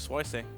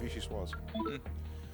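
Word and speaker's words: vichyssoise: I heard of Swaise. No, it's Vichy Swaz.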